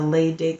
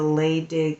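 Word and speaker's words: Leydig: soul is expressive creative in its nature the lay dick Center um just in case you are interested um when they said the lay dig center it's spelled l-e-y-d-i-g by this breathing this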